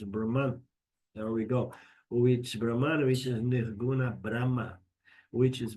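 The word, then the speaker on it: Brahmā: Which Brahman which is Brahma which is beyond time and space. And there is another word called Brahma the creator with a long a that Brahma is a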